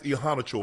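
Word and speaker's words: Iheanachor: That's how you say it. Yeah. Max ehan chore. Okay. Ehana ehan cho chore like a chore. You have a task.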